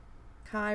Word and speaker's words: Kai: Kai rhymes with guy.